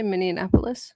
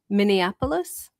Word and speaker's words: Minneapolis: to uh uh Minneapolis, Minnesota. So Minnesota, right? Did you say Minianapolis? That's a city, but it's it's Minnesota. Minneapolis.